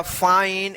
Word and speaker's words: fine: जो रूल हम बताए हैं कि लास्ट में ई रहेगा और ई से पहले वाला वोवेल आई रहेगा तो आई का आई उच्चारण होगा।